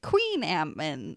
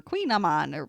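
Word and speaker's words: kouign-amann: nom nom on no they had a little thing that said queen ant man or queen i'm on right there which was handy but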